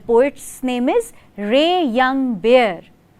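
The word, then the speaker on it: Ray Young Bear: इज रे यंग बेयर यस यू हर्ड me right रे यंग बेयर बिल्कुल भालू वाले बेयर की ही स्पेलिंग है आर ए वाई रे वाई ओ यू एन जी या एंड बेयर सो the poet is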